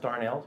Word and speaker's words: Darnell: Douglas Darnell it's pronounced Darnell but it's spelled dar and a ll and I say that